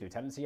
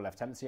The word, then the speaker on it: lieutenancy: Authority areas, metropolitan counties, lieutenancy areas, or lieutenancy areas, depending how you want to pronounce it, parishes, wards, it's a lot.